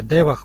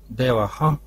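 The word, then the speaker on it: देवः: при звуком гласного предыдущего например вместо девах произносит деваха а то и деваха деваха то есть совершенно неправомерно акцентирует эту веса рггу ну вот лингвистики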